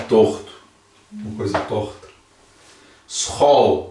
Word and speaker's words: school: Que se pronuncia como SG gutural. Então, né, esse ó. Faz. Por exemplo, como esse aqui. Schau. Schau. Por exemplo, esse. Scheef. Scheef. Por exemplo, esse. School.